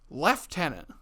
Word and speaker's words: lieutenant: that but like you look at the spelling the spelling there's no F though where the hell do the F come from well I guess